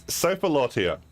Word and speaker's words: Sophilotia: It's Sophilotia is the correct pronunciation.